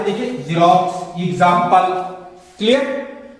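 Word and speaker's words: Xerox: या फिर ले लिया हमने जीरोक्स, जीरोक्स, जीरोक्स। यहां पे देखिए एक्स का उच्चारण जो हमें जा के रूप में मिला, जा, जीरोक्स।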